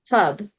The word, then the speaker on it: herb: No R though. No R. No. Herb. Hub. That's it. It's kind of like hub. It's like hub. Yeah, it's like hub. Hub.